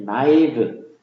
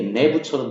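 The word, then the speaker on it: naïve: 들어온 거죠 그러니까 나이브 그이 프랑스 쪽 발음을 하 에서서 원래는 여기 이제 이렇게 이런 거가 붙어 있어요 위에 그래서 나이브 아니면은 이게 내부처럼 되니까 내부 나이브 이렇게 발음하는 얘기에요 그니까 이거를 하고이를 떼어서 따로 발음하는 얘기죠 나이 이렇게 나이브 그 이게 이제 태어난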